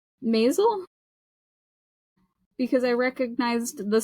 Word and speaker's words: Maisel: And I was like, Maisel?